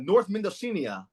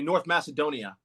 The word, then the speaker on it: North Macedonia: Then, uh, North uh, North Menosinia. Did I pronounce it right? Oh, all right. North what? Indonesia. Uh, uh, Macedonia. Excuse me. North Macedonia. Oh, Macedonia.